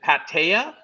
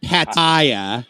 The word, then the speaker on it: Pattaya: happier ah it's a it's a soft a at the beginning not Pattaya no no no no what